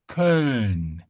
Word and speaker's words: Köln: First, you start with E, and then you relax the lips, and you reach the point. You reach this point.